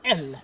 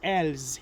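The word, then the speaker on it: elles: The pronunciation remains the same. It is L. It's not L's.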